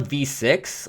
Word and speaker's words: VVVVVV: Uh, some people call it V6. I think I usually use VV VV VV cuz it's it's easy enough to remember like it's just two sets of free V's.